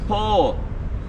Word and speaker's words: po: very easy yes in the Alban language is pronounced po po and also no it's very easy yo